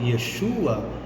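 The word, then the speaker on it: ישוע: em hebraico o nome Yeshua yin vaf Aim com sinais massoréticos para dar a vocalização Yeshua em português ah se em hebraico eu falo Yeshua em português é Jesus não é Yeshua Ah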